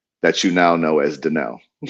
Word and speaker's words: Danell: It's spelled Danielle, but it's pronounced Dell.